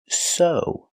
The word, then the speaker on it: sew: This word is pronounced so. The e w makes the long o sound like no and grow.